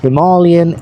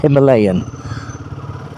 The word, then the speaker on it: Himalayan: Now, having spoken to my Indian colleague, he confirms that Himalayan is the correct pronunciation, not Himalayan.